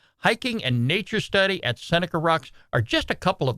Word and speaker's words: Seneca Rocks: part of the Monongahela National Forest it's near cynical rocks so let me show let me pronounce that again Seneca Rocks West Virginia and uh this Campground right here